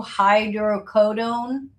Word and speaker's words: hydrocodone: I don't know how to pronounce these pills. 2 hydrocodone Yep.